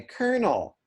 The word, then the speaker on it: colonel: it really isn't so the original pronunciation of in fact in french they will still say it because i believe this is a french loan word colonel so in french usa colonel but we say colonel okay this is an